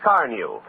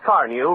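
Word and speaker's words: Carnu: Keep it new looking with Johnson's Car New, the sensational auto polish that both cleans and wax polishes with one application.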